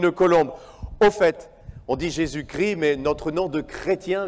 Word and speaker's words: Jésus-Christ: Au passage, en français, sachez qu'on dit le Christ, mais on prononce Jésus-Christ. Ne me demandez pas pourquoi. C'est une règle de français. Souvent, j'entends des gens dire Jésus-Christ, mais en français, on dit Jésus-Christ. C'est comme ça.